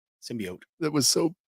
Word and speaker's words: symbiote: syote MCU that's right is it a symbiot or a symbiote symbiote that was so like